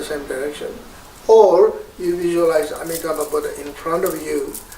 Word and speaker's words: Amitabha: to you now, Om Amitabha Hi, or in Tibetan pronunciation we say Om Amideva Hi. So either way is fine. Sanskrit pronunciation is Om Amitabha Hi.